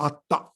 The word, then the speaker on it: Atta: Anatta means in Pali language that they cannot pronounce Atma, that is pronounced as Atta.